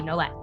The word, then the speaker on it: Nolet: You do pronounce the T. You can imagine it as ETTE, like it's a hard T, Nolet.